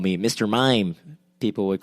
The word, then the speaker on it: Maim: Like, no, my name is Mime. It's spelled M-A-I-M, which is, maim, the verb to maim.